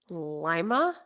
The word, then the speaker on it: Lima: but everybody knew to Ohio always gets this wrong all right Lima it's Lima it's not Lima it is Lima okay now because I